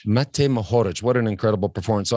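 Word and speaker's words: Matej Mohorič: How do we even pronounce that? Mate Mohoric. Mate Mohoric.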